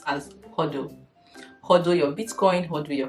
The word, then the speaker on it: HODL: The first one we're going to talk about is what we call the HODL, and it's pronounced as HODL.